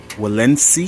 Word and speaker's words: Walensee: unboxing and initial thoughts of the valencia i think that's how you say it compost and peat